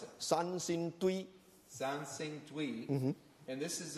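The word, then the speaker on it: Sanxingdui: I don't know how to pronounce it. Sansingtui.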